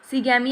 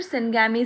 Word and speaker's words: syngamy: सिगैमी या फिर सिनगैमी से ही बोलते हैं, ठीक है।